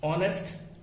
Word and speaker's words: honest: and has been used honest and has been used here if we talk about these two words are as well as honest here H is not pronounced H is not pronounced